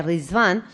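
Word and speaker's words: Riḍván: de la festividad de riván no que se escribe con ritual pero se pronuncia risband y es la fiesta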